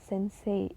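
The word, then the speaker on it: 先生: guru yang mana Nah Sensei ingat lagi ya teman-teman ketika huruf e dan I bertemu maka baca itu e-nya panjang bukan Sensei tapi sense koeng koeng wadeska Taman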